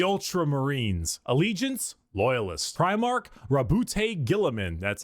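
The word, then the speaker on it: Guilliman: Primark Rabboute Gillamin.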